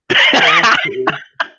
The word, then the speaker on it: Backe: Their surname is Backe. As they always say, it rhymes with hockey.